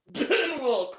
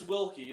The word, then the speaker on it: Wilkie: That's not how you say my last name. Oh, that's right. It's Wilkie, isn't it? It is. Yeah. I It's spelled like Wilk, though. yeah, but the E is pronounced.